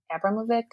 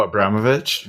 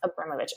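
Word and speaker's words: Abramović: go as, oh gosh, I never say her name right. Marina Abramovic. Oh, Abramovich. Yeah. Yes. Abramovich. Thank you.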